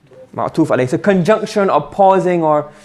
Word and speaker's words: معطوف عليه: The first word is called Ma'tufun alayhi. What's it called? And you pronounce Ma'tuf alayh. Ma'tuf alayh.